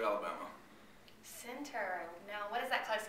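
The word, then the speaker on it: Centre: I am from Center, Alabama. Center.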